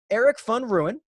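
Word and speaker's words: Erik van Rooyen: the better finishing position eric fun ruin i believe is how mark told me i pronounced that and dylan fratelli or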